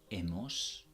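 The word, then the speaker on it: hemos: us ass ah no notice that I am dropping the H and I am not pronouncing the H at all so it goes egg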